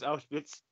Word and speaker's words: Auschwitz: I have to because Auschwitz. What's funny is that I'm actually pronouncing that right.